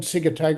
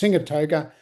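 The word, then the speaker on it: Sigatoka: It's called Sigatoga. It's actually should be pronounced Singatoga.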